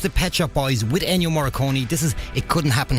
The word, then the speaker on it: Ennio Morricone: Ennio Morricone, I can never pronounce his name right. I think it's Ennio Morricone, isn't it? It is Ennio Morricone that passed away during the week.